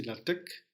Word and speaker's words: LaTeX: page cohérente et professionnelle avec la TEC prononcez la TEC concentrez-vous sur le contenu